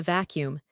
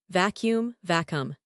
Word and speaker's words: vacuum: noise, that is the vacuum. But how do I pronounce it? It looks like it has two u vacuum. It is pronounced jump slash. Three syllables almost. Vacuum, but in fast speech.